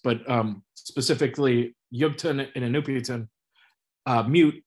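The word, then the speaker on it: Miut: Mute, M-I-U-T is how they spell it. Sometimes it's M-O-O-T, but usually it's M-I-U-T, and it means people of.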